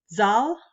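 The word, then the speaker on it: Zahl: students say no Miss Mariner it's and they pronounce it correctly it's zal I'm trying hard it's all so spelled z-a-h-l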